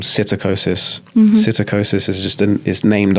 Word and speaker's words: psittacosis: that broke out called psittacosis. Psittacosis is just is named after the parrots. So, like, Cetacine birds are parrots. Okay. It's like a silent P and then SCITT.